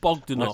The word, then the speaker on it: Bogdanoff: of was the the recent death of the Bogdanoff twins. That's how you pronounce it, is it? Bogdanov.